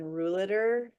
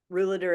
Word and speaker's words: Ruhleder: There's actually a wonderful book called Sorting Things Out by Starr and Rouliter. Rouliter is spelled Ruhleder, I think.